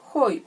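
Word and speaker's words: οἱ: nominativo masculino floral es hoy porque dibujo hoy porque tiene un espíritu áspero roto fuerte como le quieran llamar ya y se pronuncia como si tuviera una jota muy suave ya el nominativo femenino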